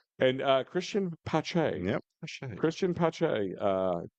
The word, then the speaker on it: Pache: Christian Pache. So you have to say it like Pache.